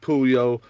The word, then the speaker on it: Puyol: The project is pronounced Pooh-Yole.